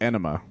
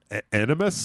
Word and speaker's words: Animus: They said it like enema. Animus?